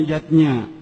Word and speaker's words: Yadnya: lima macam selamatan zatnya tulisannya yajnah Ayah Bunda tapi membacanya dzat-nya yang pertama adalah dewa Yadnya riwayatnya itu selamatan yang